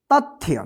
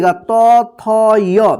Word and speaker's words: तथ्य: क्या पढ़ेंगे तथ्य देखिए जहां पे भी आधा अक्षर रहेगा वहां पे जो है ना अ रहित उच्चारण होगे यानी अ का साउंड नहीं आएगा जल्दी उच्चारण हो जाएगा तथ्य तथ्य मत पढ़िए त थय नहीं तथ्य थ जो है ना आधा